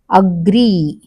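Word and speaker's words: agree: satisfy starting లో పడుతుంది అగ్రీ అగ్రీ అన్న దాని మీద పడుతుంది ఓకే యాక్సిడెంట్ స్టార్టింగ్ లోనే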